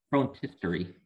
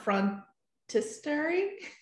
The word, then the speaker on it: phrontistery: t e r y yes frontisary okay on front history not front hysteric oh front history yeah history i think it's a uh i think it's a long o for another reason that